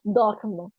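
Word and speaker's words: dorment: Forget the NT, pronounce dorme.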